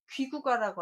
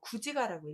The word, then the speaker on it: 구지가: 그때는 귀구가라고 안 하고 구지가라고 읽어요.